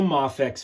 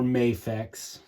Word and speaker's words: Mafex: so um this is a mafex figure or mayx tomato tomato however you want to pronounce it and um mayx is